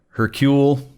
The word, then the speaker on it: Hercule: They keep saying like, "Oh, like your name's Hercules," and it's like Hercule. Like, so I guess the L is silent.